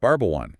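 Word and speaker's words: Barbajuan: You must try Barbwan. Barbuan. Okay, spell that out for us. B A R B A J U A N. Barbawan.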